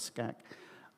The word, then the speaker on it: SCAG: of government uh and abbreviation scchu and pronounced that Scag updates it a Visionary